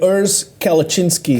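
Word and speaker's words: Urs Kalecinski: of these two competitors Mike summersfield Summerfield and URS kalachinski that's how you pronounce his name in Mike summerfelders they competed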